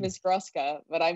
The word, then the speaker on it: Gruska: play your very first Tiny Desk concert with Gurskin. Why can't I? Ethan. Because right? I fuck it up in this. I was so nervous. Yeah, right, his name is Gruska, but I mispronounce it.